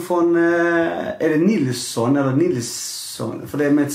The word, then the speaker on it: Nilzon: Nilsson från, är det Nilsson eller Nilsson?